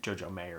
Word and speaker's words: Jojo Mayer: many things played with Jojo Mayer or Jojo Mayer however you want to say it Jojo Mayer it's the proper way